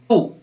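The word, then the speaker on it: two: Next है टू, इसमें भी W का उच्चारण नहीं होता है, टी और टू को ही पढ़ते हैं, W बीच में रह जाता है।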